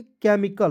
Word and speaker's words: chemical: केमिकल नहीं पढ़ लीजिएगा, देखिए CH का प्रयोग यहाँ पे भी क के रूप में करना है, के, और MI से मी होता है, CAL से देखिए सी का उच्चारण क के रूप में और एल का उच्चारण ल के रूप में, कल, केमिकल, क्या पढ़ेंगे, केमिकल ना कि केमिकल।